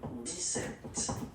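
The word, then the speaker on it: dix-sept: But then for the pronunciation, 17, okay, so you don't insist on the s, 17, 17, 17, okay, then 18.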